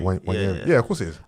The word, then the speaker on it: Nwaneri: Ranieri? Nwaneri.